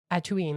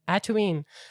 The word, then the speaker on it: Atuin: And they are standing on the shell of a giant turtle that I pronounce Atuin. That's his name, Atuin.